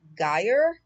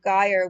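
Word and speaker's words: Győr: running hungary the mayor of a city named guyer i'm going to spell that for you because i'm sure i'm not pronouncing it properly so the mayor of guyer which is spelled g-y-o-r which is western hungary's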